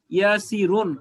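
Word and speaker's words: ياسرٌ: আসলে শব্দটা ছিল ইয়াসিরুন, র দুই পেশ রুন, ইয়াসিরুন।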